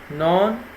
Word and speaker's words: known: both rotate and revolves known K is silent moving to Part B